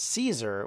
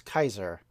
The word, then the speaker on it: Caesar: we now say as Caesar would be pronounce Kaiser because of course they had a hard c not a soft C the idea of the